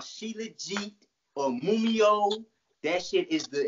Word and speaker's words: Shilajit: You got to try this shit called Shilajit or Mumio.